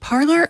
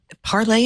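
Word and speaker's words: Parler: weaponized exactly exactly yes is it parlor or is it parlay s it's ER I don't know if it's necessarily French like you can't imagine those folks using pronunciation well it's it's parlay is to speak so much yeah but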